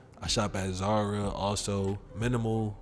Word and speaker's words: MNML: shop at zara also minimal which is spelled mnmla outside of those places